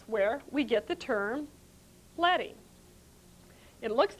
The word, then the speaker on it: leading: desktop publishing book and someone calls it lady and you can say no no no it's letting not leading now we use the same